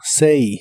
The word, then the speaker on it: say: Y usarás el verbo say, que significa decir, como cuando preguntas qué dices o qué dijiste. La A de esta palabra se pronuncia como E. Say, say.